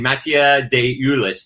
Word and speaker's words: Matteo DeLuis: Matteo DeLuis, that's how you say his name up top.